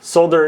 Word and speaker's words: solder: what I thought figures he is pronouncing the l in order to uh annoy people ah solder is UK which yeah like I